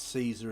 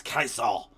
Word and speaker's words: Caesar: Yeah I I know it's not pronounced Caesar in the old Roman but if I say Julius Kasar people are not going to understand what I mean are they?